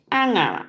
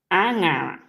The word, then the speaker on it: Anga: This is Anga because of the nye sound. Nye and with dash on top of it. Nye sound. Anga. Anga.